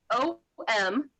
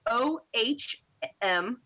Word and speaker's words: Om: so and it's OM is what it is, but the sound is OHM.